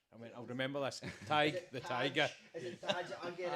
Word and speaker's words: Tadgh: is it Tadgh, is it, and he says Tadgh. I went, I'll remember this. Tadgh the Tiger.